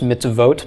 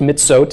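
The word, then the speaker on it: מצוות: though right MIT's vote it's still pronounced mitts of votes but they'll eliminate the valve from the Suffolk law right it effectively as MIT's vote okay those have a whole LOM there it's not pronounced mid-south it's still mitts vote but they'll a lot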